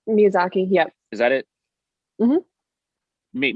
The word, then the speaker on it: Miyazaki: basically um um i'm sorry how do you pronounce his last name miyazaki miyazaki yep is that it meet miyazaki uh he